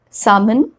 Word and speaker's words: salmon: L is not pronounced when it comes after vowels A, O and U. Let's look at some examples to understand this better. So the words like calm, balm, walk, talk, chalk, then salmon, almond.